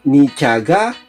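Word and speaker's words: 네가: teacher niyaga toyotaya so dito ang spelling niya is ne pero yung bigkas niya is ni so niaga Toyota is your car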